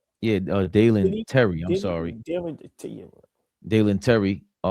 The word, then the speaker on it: Dalen Terry: And of course, Yabusele, Guerschon Yabusele, was underwhelming, was traded to the Bulls for, how you say his name, Darren Tyler? Yeah, Dalen Terry.